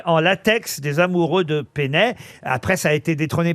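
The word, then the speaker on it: Peynet: kiosque pé il y a même des musées Pénet au Japon parce que ces dessinsl sont devenus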